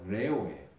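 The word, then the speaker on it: λέγω: 이르되 라고 번역된 단어가요, 헬라어로 레오예요. 밀림의 왕자 레오하고 발음이 똑같아요. 레오.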